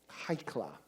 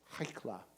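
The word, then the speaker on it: היכלא: If you look at it in Aramaic, the word sounds like this. Haikla. Haikla. Sometimes it's pronounced New Jersey style. Haikla. And sometimes it's pronounced, more gentilely. Haikla. But that kla sound at the end means basically a gathering of.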